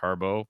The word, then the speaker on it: Harbaugh: Aon Greg Harbo Jr spelled like Harbaugh but I think he says it's pronounced Harbo okay so I wondered